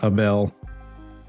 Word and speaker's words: Abel: It's going to come up as a bell. Been my gamer tag for over 10 years at this point cuz it's like the phonetic pronunciation of my name in Spanish.